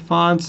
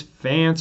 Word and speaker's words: Fonts: again my name dr fonts everyone mispronounces it says fans or or fantas i don't know but so i put it phonetically it's like fonts like the computer font fonts my office is 107